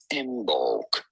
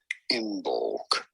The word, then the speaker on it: Imbolc: How do you go about pronouncing it? Imbolc. Imbolc.